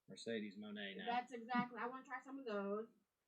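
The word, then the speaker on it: Mercedes Moné: I'd say, how did she pronounce her name? Mercedes Monet.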